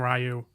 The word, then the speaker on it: Ryu: So North American audiences in particular used to mispronounce Ryu's name, and we most likely, have this movie to thank for that.